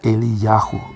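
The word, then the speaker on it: אליהו: Pues tenía que venir alguien que cumpla con la misión de Elías, que en hebreo se pronuncia Eliyahu, es decir, Yah o Yahvé es Dios.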